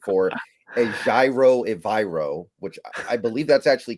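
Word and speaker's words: Evero: the internet that swear they are the right pronunciation for ayro evro which I believe that's actually correct that's what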